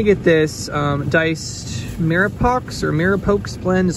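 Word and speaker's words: mirepoix: Okay, so I'm gonna get this diced Mirapox or Mirapox blend, is how you pronounce it.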